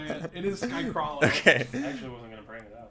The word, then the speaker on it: Skycralo: It is Skycrawlo. Okay. I actually wasn't going to bring it up. Every time I say it, he's like, it's Skycrawlo, and I'm like, can you kill yourself?